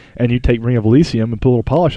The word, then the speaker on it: Elysium: Ring of Elysium, I keep saying it wrong, Elysium so amazing is that it's just PUBG again.